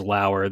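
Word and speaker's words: Lower: So his pronunciation for his last name obviously is Lauer. They spell it Lao-UR. And then in parentheses, they put rhymes with power.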